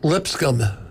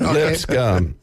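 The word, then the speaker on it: Lipscomb: know Li what's that how you say it lipsum okay don't try you can't pronounce two lip okay you got three letter word you can't pronounce it lip scum what lipsum de Borg all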